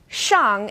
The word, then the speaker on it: Xiang: in Sheen or SIA now this sound is somewhere in the middle of SH and s and this one's a bit tricky because the initial SH is pronounced like she is in English X is somewhere in the middle so let's take Xiang and Xiao as an example here are the two